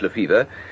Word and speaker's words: Lefebvre: Spelt Lefebvre, but pronounced Lefevre.